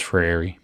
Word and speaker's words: Freire: Hence, says Freire, I'm practicing the new pronunciation, the correct pronunciation, it's not new.